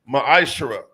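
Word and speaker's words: מעשר: 8 through1 means tempt in the Hebrew it's pronounced Maisha 10% of every penny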